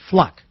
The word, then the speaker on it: Fluke: to pronounce it because it's not fluke it's fluck I was corrected not